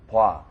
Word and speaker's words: 봐: If you're having trouble with the pronunciation of 봐, then think of it as B-W-A, 봐. It's kind of an in-between pronunciation between O and A.